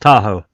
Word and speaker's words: Tahoe: But if we have a look it's pronounced Tahoe.